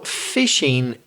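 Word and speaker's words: phishing: spelling it p-h-i-s-h-i-n-g so the same pronunciation as catching fish fishing but spelled with a pH what's that Reza so fishing in the world of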